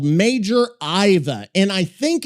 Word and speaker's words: Aiva: Let us hope this major Iva has more strategic elegance than most.